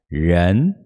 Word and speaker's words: 人: Para pronunciar o R, a gente puxa a língua para trás, ela dá uma enroladinha. Tipo quando a gente pronuncia porta, o R mudo de porta, com o sotaque do interior de São Paulo. Porta, né? Puxa para trás, 人.